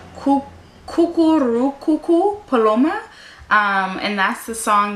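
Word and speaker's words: Cucurrucucú paloma: also I really really like the song it's pronounced coo coo coo coo coo paloma um and that's the song that's played in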